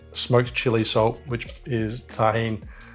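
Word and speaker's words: Tajín: chili salt which is tahen uh or tahin you pronounce it um paprika and salt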